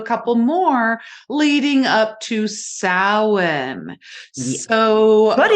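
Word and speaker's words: Samhain: Listeners out there, when you see the word Sam Hayne, it literally is pronounced sin.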